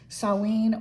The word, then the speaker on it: Samhain: way it's actually SA saen or sin it's a Celtic word so it's not spelled it's not spelled it's not pronounced the way it is spelled and then we have